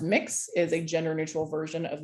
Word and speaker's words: Mx: point out though that mx pronounced mix is a gender-neutral version